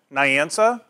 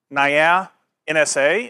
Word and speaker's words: Nyansa: I'm with nansa that's one way to pronounce it Nia NSA is another one you're welcome to use um so I just